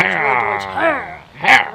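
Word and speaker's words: Herr: I can't say ivory, but I can say hair. Hair is how you say man. Frau is for woman or miss. So like when you say hair, you're saying mister. Hair. Hair. Hair. Hair. Like, yeah, like hair.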